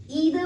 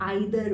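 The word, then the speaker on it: either: ईदर way will be fine, आप इसे ईदर भी प्रोनाउंस कर सकते हैं और आइदर भी प्रोनाउंस कर सकते हैं।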